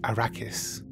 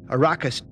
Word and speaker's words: Arrakis: I'll see you on a raucous many would pronounce it Arrakis but Herbert pronounces it a raucous Baracus era king the capital city of the